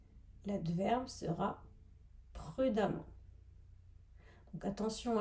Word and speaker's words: prudemment: n t l'adverbe sera prudemment donc attention à la prononciation on dit prud'hommes le E se prononce comme un A et pour les adjectifs